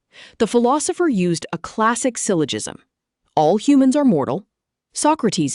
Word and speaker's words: syllogism: Syllogism. Pronounced sil uh ji zum.